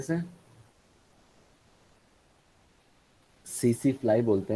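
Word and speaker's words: tsetse: तो क्या बोलते हैं, प्रोनाउंस कैसे करेंगे बताओ, बताओ भाई। सीसी फ्लाई क्या बोलते हैं इसे? सीसी फ्लाई बोलते हैं।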